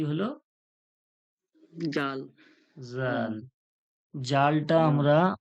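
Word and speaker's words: ذال: দিয়ে দিই কি হলো জাল জাল জালটা আমরা উচ্চারণটা ঠিক করে বলবো বরকিয়া মতো বললে হবে না জাল যে বলবো জিহব্বার আগাটা সামনে দাঁতের আগাতে লেগে বলবো জিহব্বার আগাটা মানে জিহের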